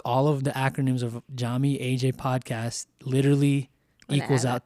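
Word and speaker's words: Yami: So Jami, your name and as everyone will know is spelled with a Y but is pronounced with a J.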